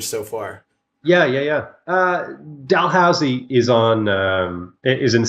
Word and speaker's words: Dalhousie: chose I know how to say it now Dalhousie I'm pretty younger that's the way yeah yeah